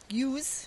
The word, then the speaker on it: ewe: So we keep the females, the ewes, as it's pronounced, for breeding, and we sell the male lambs for meat.